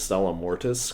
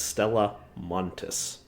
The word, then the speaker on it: Stella Montis: By the way, I keep calling this Stella Mortis because I think that sounds cool, but I guess it's Stella Montis.